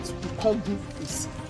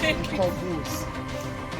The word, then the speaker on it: Ikogosi: We call it IKOGOSI. You know in the Ekiti language, when you want to pronounce I, you say so it's IKOGOSI.